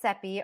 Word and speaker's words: Cepee: hi my name is sepy rhymes with peepe and I'm going to